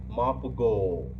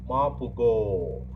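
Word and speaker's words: Morpurgo: Please listen to my pronunciation again. Michael Mapugo. M-O-R-P-U-R-G-O. Mapugo.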